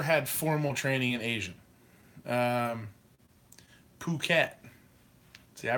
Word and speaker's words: Phuket: Phuket. See, I pronounced it right.